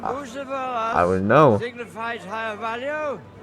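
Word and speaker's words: Bucephalus: What kind of name is Bucephilus Bucephilus. anyway? It's pronounced Bucephilus, Ishka.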